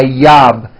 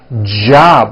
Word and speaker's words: job: never so for example the word job has a at the beginning job it's never job my yob it's always my job with a strong J sound job my job like that okay let's do